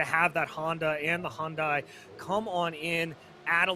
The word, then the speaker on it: Hyundai: what did you do how do you just pronounce that name hyundai i'm an american i know yes no it's it's hyundai it yes no this